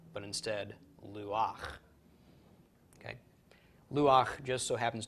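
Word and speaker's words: לוּחַ: state normally you would think this would be pronounced loo ha because we would pronounce the hate before the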